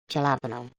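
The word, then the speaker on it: jalapeño: You know, it's spelled jalapeno, but it said like jalapeno.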